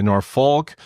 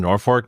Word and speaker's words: Norfolk: not a local because if they're not a local they'll they'll say Norfolk or as they say it on the East Coast Nori Nori Nori but you know that they are from nor Fork Nebraska if they put the the fork in it um I still felt